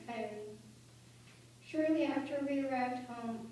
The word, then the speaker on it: Kyrie: But my mom chose to use the Russian pronunciation, Kyrie.